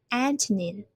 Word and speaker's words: antonym: And then pronunciation, we have three syllables and we have put the stress on the first one. Antonym, antonym.